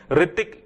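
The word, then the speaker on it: Hrithik: रतिक की spelling H से start होती है जो कि साइलेंट है।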